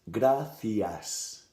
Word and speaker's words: gracias: In the majority of Spain, you will hear the C's and Z's, or in Great Britain, the Z's, pronounced like th. So, for example, thank you is gracias. Gracias. Right? You have the C and the S.